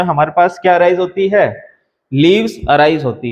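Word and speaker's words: whorl: ठीक है, इसका प्रोनाउंसिएशन आप जैसे होल जो वर्ड है उससे भी आप इस तरीके से, दोनों का प्रोनाउंसिएशन सेम ही होता है, हॉल या फिर हॉल।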